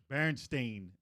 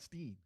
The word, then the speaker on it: Berenstain: Berenstain, not Steen. Yeah, Bernstein.